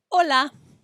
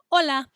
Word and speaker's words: hola: letter h remember that in spanish the letter h is silent it doesn't make any sound and so we don't say hola we say hola hola we don't pronounce the